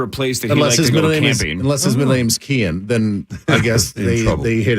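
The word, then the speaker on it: Cian: what they picked and Kian uh c-i-a-n pronounced Kian Kian Summit yep and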